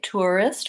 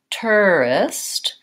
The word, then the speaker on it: tourist: whole word tourist so I think you can either say tourist with an ooh or you can say tourist with more of an or an a so there are multiple pronunciations for tourists tourists I think tourist